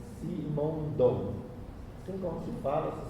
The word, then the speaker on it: Simondon: f i n o n d o n simondon assim como se fala se escreve é o nome dele é Gilber Gilber